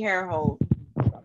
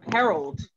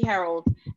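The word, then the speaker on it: Herold: services for women um leslie harehold harold that's how she pronounces it leslie harold and we will put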